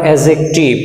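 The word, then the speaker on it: adjective: আবার অ্যাডজেক্টিভ, এখানেও ডি উচ্চারণ হবে না।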